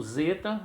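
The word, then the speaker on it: ζῆτα: E o zeta, alguns acham que deve pronunciar de zeta com D, mas a pronúncia mesmo utilizada em algumas gramáticas, e a maioria que nós consultamos, é o zer de zelo, de zebra, e assim sucessivamente.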